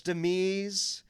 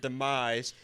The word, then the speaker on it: demise: And he's like, "And I'm celebrating my third wife's demese." I'm like, "One, that is a crazy pronunciation of the word demise.